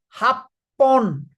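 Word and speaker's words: 八本: Then six long and thin objects is this is ro and this is horn but it is going to be pronounced as roon. It's an exception roon.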